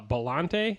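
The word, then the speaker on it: Biollante: going to bring up uh godzilla versus uh bellante is how you pronounce it which was actually like it was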